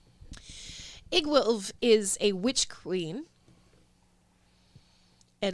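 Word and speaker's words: Iggwilv: with it i promise igg w-i-l-v pronounce it egg wolf is a witch queen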